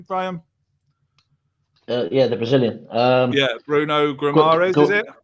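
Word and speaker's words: Guimarães: Bruno Guimaraes, is it? Guimaraes, yeah. Guimaraes, with Odegaard in the starting 11, Guendouzi would be nothing more than an impact sub. Yeah, possibly, and I think Guimaraes would be a great fit for Arsenal.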